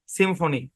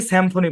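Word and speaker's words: symphony: পারবেন সিম সিমফনি হ্যাঁ আমরা অনেকে স্যাম ফোনি বলি ভাই কিসের স্যামফোনি ভাই এটা কি এ আছে নাকি যে আপনি স্যামফোনি বলবেন সিমফনি হ্যাঁ সিমফনি কি উচ্চারণ সিমফনি সিমফনি মানে কি ঐক্যতান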